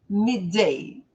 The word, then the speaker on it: midday: Eles vão pronunciar só um D. Midday.